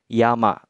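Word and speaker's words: 山: berdiri sendiri seperti ini dia akan dibacanya Yama bacanya kunyomi Ya Ya tentu saja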